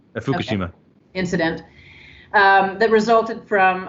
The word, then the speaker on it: Fukushima: that were shut down after the, I'm probably pronouncing this wrong, is it Fukushima? How do you say That's correct, Fukushima.